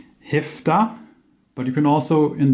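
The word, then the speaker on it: هفده: once so 17 in the colloquial sense is pronounced heft ax but you can also in the written sense of formal sense it's called hafta but if thou is the one we will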